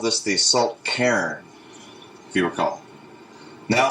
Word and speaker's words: Cairn: Yeah, Cairn. People would call it like Cairns. It's one syllable, isn't it? It's supposed to be one syllable, Cairn.